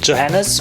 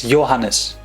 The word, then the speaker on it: Johannes: The 3 most common mispronunciations are either Johannes, which is the English version, making the H too long, Johannes, or skipping the Jo and making it Hannes, which is all wrong. It's Johannes. Johannes.